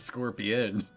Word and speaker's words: Scorpion: No, the first one's not Scorpio. Apparently, this is Scorpion. I've been saying it wrong all this time.